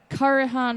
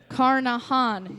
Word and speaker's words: Carnahan: going to be at karahan Hall in Indiana that's not pronounced right Carnahan yes it is and it is